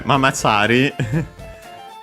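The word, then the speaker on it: ママチャリ: Mama, yeah, it's straight up simply mama. Found also in English. Accent on the first more as usual, like in English.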